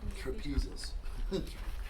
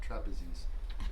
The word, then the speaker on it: trapezius: Trapezius. Trapezius muscle. Yeah, not trapezes.